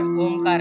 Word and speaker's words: ओम: अंदर खींचेंगे ओम ओम में ओ थोडासा कम रहेगा और म का हम ज्यादा दीर्घ उच्चारण करेंगे ओ हे कमी वेळ